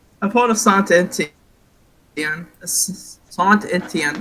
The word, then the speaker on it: Saint Etienne: Sant Etienne. Yes, that is actually right, guys, I think. The correct French pronunciation.